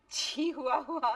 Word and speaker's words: Chihuahua: That's not Chihuahua, it's Chihuahua.